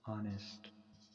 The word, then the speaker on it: honest: Honest man. Okay, so should keep this point in. This doesn't some pronouns. So here the sound is vowel. Yeah, H is silent here.